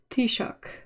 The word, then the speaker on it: Taoiseach: I mean, it always blows my mind because you look at the bunch of letters and you're like, oh my gosh. And then you hear it and you're like, wait, what? Why did you give yourself the trouble of writing it in such a complex way?